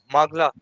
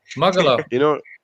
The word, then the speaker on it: Magala: Magla. I'm saying it wrong. Magala.